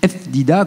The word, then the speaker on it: Ftida: Pour dire Ftida, vous me prononcez vraiment... donc, c'est un nom d'origine juive tunisienne. Et vous dites F. Dida, comme on dit là-bas, quoi.